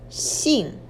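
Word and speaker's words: 姓: you put this two together it's pronounced as seen see we use this to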